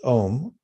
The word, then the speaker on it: Om: muted mics one syllable mantra ohm that synchronizes all of the energies and helps bring our mind to a peaceful state it's om actually spelled aum or om and i'll say it